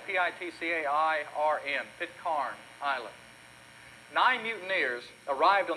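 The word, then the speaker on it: Pitcairn: bly they went to an island the island is spelled p-i-t-c-a-i-r-n pit carn island nine mutineers arrived on that island six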